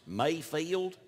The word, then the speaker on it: Mayfield: Actually, it's pronounced Mayfield.